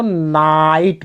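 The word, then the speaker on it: night: NI उसके बाद GHT लगा है तो नाइट पढ़ेंगे, नाइट, आई उच्चारण हो रहा क्योंकि आई के बाद GST लगा है। और एक नियम और भी है कि जब GH के बाद T लगा हो कहीं भी तो GH साइलेंस हो जाता है, GH को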